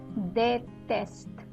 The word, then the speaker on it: déteste: The next word is déteste. Déteste. Here I'm saying they, right? Because the E with an accent aigu is after the they, right?